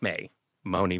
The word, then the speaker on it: Maimone: You are a singer songwriter and you pronounced it May Mooney Music and I found that where you put the accent to be interesting and musical.